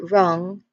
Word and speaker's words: wrong: And if you say the word wrong, it is not there. The sound of letter W is not there. So, which means that it is a silent letter, and that is the answer. That is the particular word that has a silent letter in it. And the silent letter is letter W.